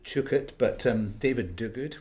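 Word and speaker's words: Duguid: my namesake David uh as he pronounces it chuk it but um David dug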